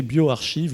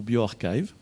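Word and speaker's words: bioRxiv: spring harbor laboratory qui mise en oeuvre de prononcer bio archives ou bio arxiv c'est ce sont des archives d'articles en prépublication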